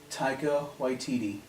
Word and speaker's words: Taika Waititi: How do you pronounce his name? Taika Waititi, who I know from the Green Lantern movie.